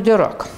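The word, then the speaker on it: Dirac: крайне своеобразной это поль дирак значит во первых мелкие комментарии по произношению фамилия это французского происхождения поэтому английские правила по которой ударение как правило на первом слоге на нее не распространяются кто говорит дело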